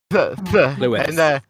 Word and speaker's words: Llwyd: Right, if it's double D at the end, it's a th sound. Llwyd.